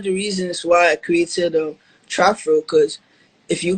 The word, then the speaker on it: TrapFro: with this TrapFro sound, am I saying it wrong? It's TrapFro, Trap right? TrapFro.